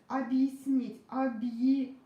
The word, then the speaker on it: объяснить: Since ya is also unstressed, then we don't pronounce it like ya. Let me pronounce it really fast. Объяснить. Объяснить. I pronounce it like yi. I don't pronounce it like ya. I pronounce it like yi sound.